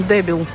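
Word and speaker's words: débil: Ну, кстати, ударение на е, поэтому дебел, да, переводится так.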